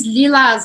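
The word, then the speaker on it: lilas: Lilás, aí a gente falaria lilá. Lilá. De novo, não vou falar esse S aqui ao final, mas o resto eu pronuncio normal, lilá, tá bom?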